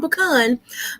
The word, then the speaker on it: pecan: My favorite is, well, I'm going to say it both ways because people pronounce it pecan or pecan. I'm from the country, Mm-hmm. I'm from the South. I'm pecan, but Yep. pecan or pecan is my favorite.